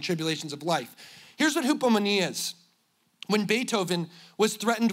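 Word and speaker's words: ὑπομονή: It is hupomone. Would everybody say hupo? Moni. You say hippo money? What are you even talking about?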